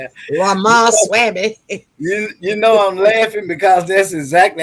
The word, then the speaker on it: Ramaswamy: She has some, and right now, her thing, what she's talking about right now, is this other candidate, Ramawhammy. I don't know how to pronounce his name. Ramaswamy.